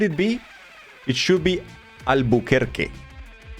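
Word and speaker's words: Albuquerque: It should be Albuker. Not Not Kirk. No. Albuker Americans thought they were French.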